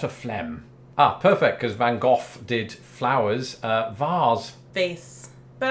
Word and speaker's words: van Gogh: correct here so yes in Britain we say van Gogh here America growing up I was conditioned to say van Gogh but increasingly I've heard Americans say things like van Gogh or van Gogh I wonder if doctor who influenced that I've heard that the dutch is closer to that first one you said there but Val hawk